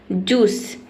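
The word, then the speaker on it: juice: उसी तरीके से जूस में आई लेटर साइलेंट है।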